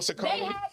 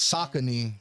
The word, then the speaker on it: Saucony: Sauconys. Sauconys are popping off these days. Saucony.